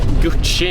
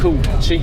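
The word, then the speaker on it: Cu Chi: Okej, just nu sitter vi på bussen på väg till Gucci låter det som de säger hela tiden men det heter Koochi.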